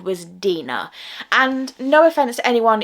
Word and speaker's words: Deeanna: So my name is actually said Deeanna, so that is how you pronounce my name.